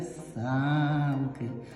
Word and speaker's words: санки: це що санки і відповідь буде са ки так на першу нашу голосну молодці увага друга загадка